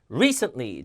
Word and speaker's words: recently: 안 되고 event effort Recently 앞에 강세 Recently 자 river 알 발음